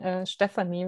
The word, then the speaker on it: Stephanie: very much also for pronouncing my name in german actually properly i noticed stephanie which is the german pronunciation thank you very much